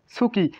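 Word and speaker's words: つき: ভাই এটা তসু বলে, তসুকি হওয়ার কথা ছিল, কিন্তু হবে সুকি। কারণ কি ভাই? কারণ এই সুটা প্রথমে বসলে কি হয়? সুটা প্রথমে বসলে আপনার তসু, প্রথমে বসলে সু উচ্চারিত হয়, এটা মাথায় রাখবেন।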